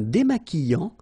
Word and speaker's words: démaquillant: Un démaquillant. So we've got this Q-U, but then U is not pronounced.